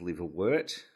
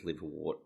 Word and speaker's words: liverwort: Should be pronounced liverwort, but everyone reads it as liverwort because that's how it's spelled.